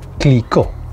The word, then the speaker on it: Clicquot: more time Nicola for yet number two this click one more time click finally number one so you actually pronounce the d one more time by the